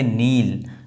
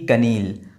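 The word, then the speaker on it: kneel: तो यह पूरा का पूरा जो के है वो साइलेंट है। इसको पढ़ेंगे नील ना कि कनील।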